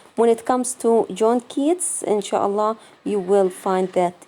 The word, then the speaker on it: Keats: Okay, we have John Keats or Yeats. They pronounce it two different ways. John Keats or John Yeats.